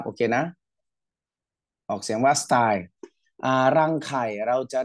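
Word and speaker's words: style: จะ เรียก ว่า สตล สตล ออก เสียง ว่า สไตล นะ ครับ โอเค นะ ออก เสียง ว่า สไตล อ่า รัง ไข่ เรา จะ เรียก ว่า วาร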